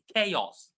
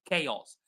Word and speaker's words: chaos: uh like is pronounced chaos chaos the ch is pronounced k and the in the